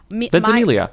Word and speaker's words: Ventimiglia: Let's just let's just Ventimiglia. Milo Ventimiglia, he's okay, quote okay, after Warner Brothers told him he's too old to play play Batman. He says Ventimiglia said, they said after he quote threw his